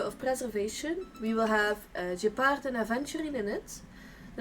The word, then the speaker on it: Gepard: Or Gepard, I think, if you could like pronounce it in the French way.